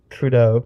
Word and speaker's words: Trudeau: don't even know his last name how you pronounce it TR trud oh trau Trudeau trau yes Mr Canada man yes my baby